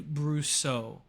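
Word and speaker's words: Brussaux: like a porn name Sophie Sophie brusso brusso is spelled b-r-u-s-s-a-u-x if you got an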